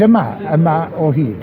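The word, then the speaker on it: Yma o Hyd: Let's get the pronunciation right. It's Ama Ohid.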